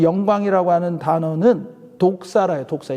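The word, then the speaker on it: δόξα: 이것도 이 성경의 말씀에 이 영광이라고 하는 단어는 독사라요. 독사. 이게 뱀 독사가 아니고 이 헬라어 발음이 독사예요. 독사.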